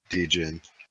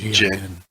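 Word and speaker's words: Djinn: Dijin. Or whatever. Jin. How is it? Jin. The D is silent. Yeah, it's just like Jin.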